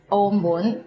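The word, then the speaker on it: 澳門: which is Hong Kong and omon which is maau and today we are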